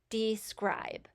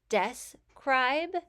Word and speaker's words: describe: Now this really depends on how you say the word. When I am emphasizing it, I say describe. So I separated it out into an open syllable, D, and then the VCE syllable, scribe. I would also say it would be correct if you say describe, you could separate it out into the closed syllable, des, and the VCE syllable, cribe.